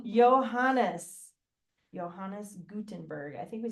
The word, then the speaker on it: Johannes: Gutenberg I have been saying it wrong johanes Johannes Gutenberg I think we said that part right